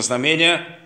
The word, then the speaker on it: знамение: чтоб это основное знамение как правильно ударение знамени как говорит не очень привычно знамение которое дает христос в